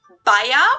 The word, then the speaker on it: Bayer: didn't know this wow that was the english pronunciation but the correct german pronunciation would actually be baea okay that's what i